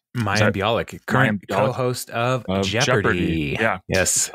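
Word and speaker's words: Mayim Bialik: uh how do you say her name Uh mayam biic mayam biic current co-host of Jeopardy yes um yeah and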